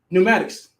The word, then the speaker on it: pneumatics: Or pneumatics. Right. It's a P in pneumatics. Why is it there?